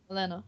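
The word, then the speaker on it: Olenna: Olana. Is it Olana or Yes, Olena? yeah, Olena. yeah. I By far my I never favorite know how character. to pronounce stuff because when I read the books, I Mm.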